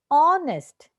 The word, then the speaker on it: honest: Honest, H. Daughter, GH. Return. Now see this word here. We are actually pronouncing each sound of the alphabet here.